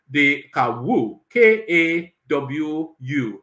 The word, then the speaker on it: Kawu: granted by Justice by honorable justice k-a-w-u so that's why I'm pronouncing that kawu so out how else